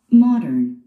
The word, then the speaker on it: Modern: 네, 원어민들, 네이티브들은 마른, 그렇게 발음하죠? 마른, 스트레스 맨 앞에 있습니다.